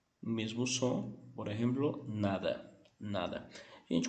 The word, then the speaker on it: nada: Gente, curiosidade que esse D em algumas regiões, em alguns países, é como se você não pronunciasse ele. Por exemplo, eu posso ler nada, mas também posso ler nada, sim? Nada. Por exemplo, querer comer? Não, nada. Então, o D pode acontecer isso. E particularmente eu acho muito bonito quem pronuncia esse D um pouco mudo.